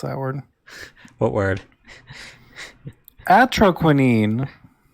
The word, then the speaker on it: Atroquinine: Atroquinine. Okay. That's what Ogcry says is how you pronounce that word. What word? Atroquinine.